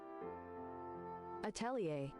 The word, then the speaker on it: Atelier: I gota How How do you pronounce at atlier? Atelier.